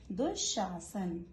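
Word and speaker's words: दुःशासन: दुशासन इसका प्रोनाउंसिएशन है दुशासन।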